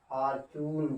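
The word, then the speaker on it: fortune: यहाँ पर हम लोग जो देख रहे हैं कि यहाँ पर टी के बाद यू आ रहा है, अंत में ई भी है। यहाँ पे टी को हमने च के रूप में देखा, या टी के बाद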